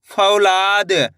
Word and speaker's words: फौलाद: फ में औ की मात्रा फ। ल में आ की मात्रा ला द। तो मिलके बन जाएगा फौलाद।